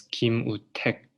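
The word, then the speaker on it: 김우택: So it's Kim U Tek, Tek, Tek, Tek.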